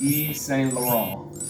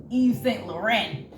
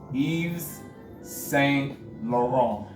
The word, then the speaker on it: Yves Saint Laurent: Don't say Yves Saint Laurent. Or Laurent. Laurent. Yeah. T is silent. Yeah. There you go. Exactly. Say it again for the people. Yves Saint Laurent.